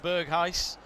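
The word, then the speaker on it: Berghuis: over my pronunciations he says correct on bergheis uh the ger is actually that dutch throat clearing uh like scottish ah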